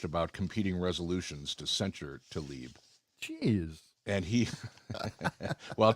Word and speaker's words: Tlaib: How do you pronounce, John, are you there? Yeah. Republican Rashida Tlaib? Tlaib.